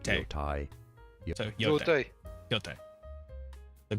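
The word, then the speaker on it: 羊蹄: The Japanese pronunciation Yote. Yote. Yo, Yotai. Oh. Oh. Yo. not Te. Yotai.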